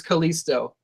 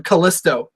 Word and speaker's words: Kalisto: new day calls him Kalisto they refus to put the accent on the eye he's Kalisto to them but um I think